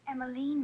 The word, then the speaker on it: Emmaline: night to be wandering out alone emiline it's emiline Mr Kleiner well now I'm not sure the